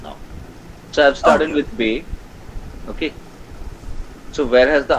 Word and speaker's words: B: So bay, B is called bay. B has the name bay in German. Okay. This bay is the same as English, gives the same pronunciation as English B, but is called bay. C, the English C has